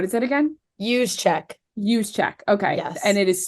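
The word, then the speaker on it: Juszczyk: check um what is it again use Che use check okay and it is spelled just so everyone knows j u s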